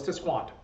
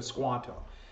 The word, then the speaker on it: Tisquantum: And actually his name was Tisquanto. That was actually as close phonetically to his name, but that turned into Squanto.